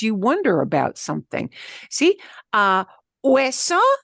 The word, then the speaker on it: hueso: Hueso se escribe con H. Hueso is written with an H. You don't hear the H, of course.